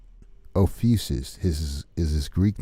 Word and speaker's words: Ophiuchus: So if you see the word, this is how you pronounce it, Ophiuchus.